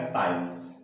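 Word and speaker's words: science: तो इसलिए यहाँ पर जो सी लेटर है वो क्या है, साइलेंट लेटर है। तो इसका प्रोनाउंसिएशन बनेगा साइंस।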